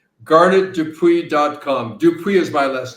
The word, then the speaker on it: Dupuis: Dupuis is my last name, Dupuis. First name, 1 T, rhymes with darn it.